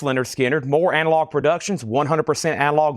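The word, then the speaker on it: Lynyrd Skynyrd: Leonard Skinner, pronounced Leonard Skinner, More Analog Productions, 100% analog mastering, 2 LP, $64.99.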